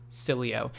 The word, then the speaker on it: Sileo: an absolutely fantastic name we're going to be pronouncing at the proper way from here on out Sileo and we do apologize to cool star and